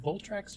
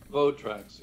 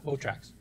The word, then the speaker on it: Votrax: Here, Carlos actually published a little video on Facebook showing off the old Votrax, or is it Voltrax, or how do you pronounce that? Votrax, yeah. Votrax.